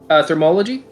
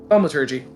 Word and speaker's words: Thaumaturgy: Oh, actually uses thermology. I never figured out how you pronounce Thaumaturgy? Thaumaturgy.